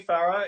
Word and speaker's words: Farrar: So Courtney Farrar is a musical theater performer based in Brisbane.